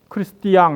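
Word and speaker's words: Christian: 저게 이제 불어나 다른 라틴어 발음으로 하면 크리스티앙 이렇게 발음하더라고요. 근데 영어로는 크리스천이라고 발음해요.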